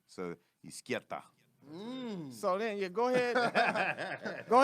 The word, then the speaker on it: Izquieta: And it sounds like the word left in Spanish, which is izquierda, but it's no R and a T instead of a D. So izquierda.